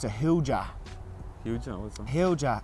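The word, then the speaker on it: hoojah: my granny Barry, God bless her, it's a hooja. Hooja, what's that? Hooja. It's the exact same as whatchamacallit. Give us that hooja. What's that hooja? Oh. Turn the hooja on there, will you? How you spell it?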